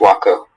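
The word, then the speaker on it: huaco: This can be just Waco. Okay. Waco. Am I pronouncing it correctly?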